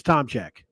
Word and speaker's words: Tomczyk: his last name, because it is spelled Tomczyk. It's a lot simpler than you would think. It's Tomczyk, right? So pretty easy name to say.